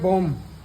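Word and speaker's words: bomb: नहीं पढ़ना है लम बम नहीं पढ़ना है बम और कोम नहीं पढ़ना है कोम इसी प्रकार और बी के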